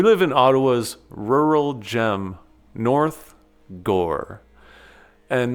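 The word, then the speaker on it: North Gower: We live in Ottawa's rural gem, North Gore. And that's pronounced gore, like gore in a movie.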